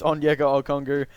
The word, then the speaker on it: Onyeka Okongwu: and looking a lot I didn't actually know how to pronounce his name I thought it was a bit different than that but apparently it is on yoga or Congo but yeah again this